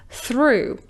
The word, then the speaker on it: through: Let's break it down. Let's pronounce the first and the last sound first. /θ/, /uː/. /θ/, /uː/. /θuː/. Can you feel that the position of the tongue is almost identical for the two sounds?